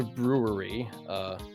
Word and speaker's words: Bruery: The beer of the evening is a beer by the brewery brewing company. That's spelled Bruery.